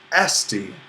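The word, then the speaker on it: ἔστι: And for this, we'll put an accent on the penult of the verb, esti.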